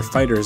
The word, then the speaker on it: FighterZ: The next DLC pack for Dragon Ball FighterZ, or Fighters as it's actually pronounced, was announced.